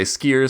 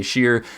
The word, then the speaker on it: Scheer: If you spend enough time in the rum world, you've probably heard multiple pronunciations of this name. Some people say Skier, some people say Scheer.